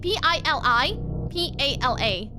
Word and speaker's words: pili pala: Pili Pala? No. Pili. P-I-L-I-P-A-L-A.